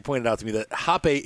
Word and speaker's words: Hape: I also found out, she pointed out to me that Hape is a German name. His name is Hape, not Hape. I was pronouncing it wrong.